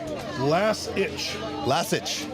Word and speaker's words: Lasich: And I was saying Lasich yesterday. And we got the cheat sheet right here. Pronounced Lasich.